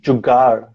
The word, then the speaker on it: jugaad: So we have jugar. So it's the same thing. Oh, really? How do you spell that? Same thing. How do I say that? It's Jugaad, jugar.